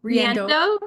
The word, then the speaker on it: Riendeau: We're very excited about today's episode, as Janet said, as we have the fabulous Riendeau. Is that the correct pronunciation? Riendeau. Okay, joining us.